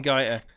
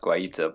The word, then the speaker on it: Guaita: Bringing in Gaita. Yeah, I'm feeling pretty well. I'm pretty sure it's pronounced Guaita, but anyway.